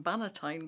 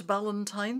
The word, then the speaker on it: Bannatyne: is business the Duncan Banitine way. One of the first things I had to learn when I started to write about Duncan was how to pronounce his surname and it's not Valentine.